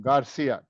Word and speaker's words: Garcia: pronouncing it correctly. Garcia. Garcia. Yeah. You got Danielia it. Garcia. You got it. Garcia.